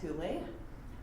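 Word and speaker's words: ὕλη: Likewise, other interesting trivia fact, the Greek word for matter that's usually pronounced hule, but Aristotle was the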